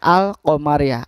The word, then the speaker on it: al-qamariyah: atau al qomariyah adalah dengan membaca alnya secara jelas tanpa meleburkan bacanya. Ini sesuai dengan namanya al qomariyah. Alnya dibaca jelas, bukan al qomariyah tapi al qomariyah.